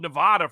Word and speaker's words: Nevada: for anybody who's followed Nevada for the last uh 10 years now here in N Nevada they like to pronounce it like a sheep or a lamb Nevada that still annoys me